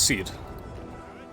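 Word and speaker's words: Süd: not German but yes it's not sued its seed which makes sense because that's roughly how you pronounce it in the region as well we've got French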